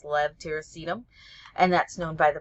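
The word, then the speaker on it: levetiracetam: of tegral or epitol Lev tyum which almost everybody mispronounces it's kind of a a hard one um even pharmacists had had trouble with that for a very long time but it's Lev tacum and that's known by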